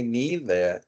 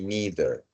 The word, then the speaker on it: neither: So she says, well, both girls who present these 2 videos, they say that the pronunciation is neither or neither. That's correct. Both are correct.